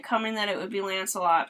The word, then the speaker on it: Lancelot: Honestly, I should have seen it coming that it would be Lancelot, because it rhymes with Camelot and Shalott.